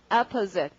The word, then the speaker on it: opposite: 자, 강세 처음입니다. 발음은 opposite 이렇게.